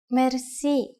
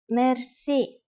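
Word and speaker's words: мерси: which word that is Mery Mery Mercy is a long word from French but it is pronounced with the typical Bulgarian hard r r it is used mainly in informal situations Mery how do you answer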